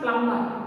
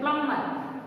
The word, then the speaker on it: plumber: Next one, plumber. Don't pronounce B here. B silent. Plumber.